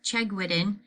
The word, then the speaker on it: Chegwidden: I pronounce my last name Chegwidden, and I say it's Chegs like legs, so they remember it's only one G.